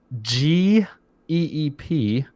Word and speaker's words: GEEP: it was it's called i guess it's pronounced jeep it's g-e-e-p so jeep or geep with a double e you would imagine this jeep but anyway um out